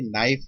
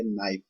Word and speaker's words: knife: अब कई कंफ्यूजन हो जाता है कि नाइफ लिखना है तो हम उधर भी KNIFE ऐसे लिखें, नहीं। इसमें शॉर्ट हैंड में अगर हम ऐसे लिखेंगे, नाइफ लिखते हैं, ये अभी आपको तो समझ नहीं आएगा किस हिसाब से बने हैं, बट आपको थोड़ा सा एक ब्रीफ दे रहा हूं कि नाइफ शॉर्ट हैंड में इस तरीके से सिर्फ साउंड ही लिखी, हमने के नहीं इसमें यूज करा।